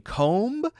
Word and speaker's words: comb: right and we don't pronounce the be in comb and we don't pronounce it in in debt we don't pronounce